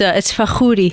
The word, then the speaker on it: Fakhoury: How do you pronounce it? I always butcher my guest's name. No, you're fine. It's Fakhoury.